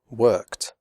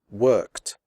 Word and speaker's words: worked: P F and s the final ed is pronounced like t as in the word hot the e remains silent here are some examples worked picked fixed missed stopped